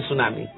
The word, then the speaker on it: tsunami: marepoto que sacudió nuestra se escribe tsunami se dice tsunami hagamos las cosas más simples si se escribe tu tsunami digamos tsunami aunque ya desde la campaña